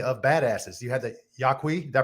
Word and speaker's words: Yaqui: You had the Yaqui, did I pronounce that right? Yaqui.